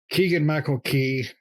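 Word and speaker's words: Keegan-Michael Key: cast i don't see anybody really you know keegan michael key that's how you pronunciate it nick i had to google it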